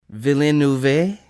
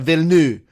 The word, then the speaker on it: Villeneuve: It's like Villeneuve. It's like Villeneuve or something like that. We're really wrong. Like, we're not even close. So, like, there's a missing syllable? It's just like Villeneuve?